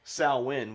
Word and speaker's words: Samhain: this band is celtic frost but technically unlike saowin which is the only correct pronunciation of it it can be celtic frost